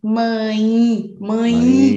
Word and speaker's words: mãe: Really careful when you're pronouncing mom, hand, and when you're pronouncing mom, mãe. There's very nasal. You feel all here. Mãe. Do you feel?